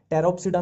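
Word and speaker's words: Pteropsida: टेरोप्सिडा में देखो, अब वही है, फिर पी साइलेंट चलेगा।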